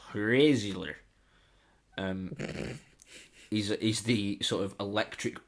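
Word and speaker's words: Hræzlyr: It's spelled HR, and then one of those connected A and E's, and then ZLYR. So Hrazler.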